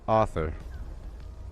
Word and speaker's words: Arthur: her name's Arthur pronounced Arthur like a novelist I think you should pronounce the name Arthur Arthur like a-u-t-h-o-r is to say author in your head and you'll sound so so darn sophisticated but IMS Arthur come